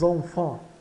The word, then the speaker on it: enfant: Enfants tem as vogais nasais EN aqui no início e AN quase no final. Então, enfant. E o S final de enfant é mudo. O S aqui é mudo, é um enfant. E o T também. Enfants.